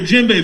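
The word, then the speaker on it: djembe: call the gym bit can everyone say jinbe for me right on right on so jinbe is from west africa and you spell that d j e f e yeah let me get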